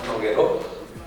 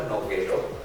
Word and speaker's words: Nogueró: Nogueró, tal como suena, Nogueró, pero con acento en la O, la última O.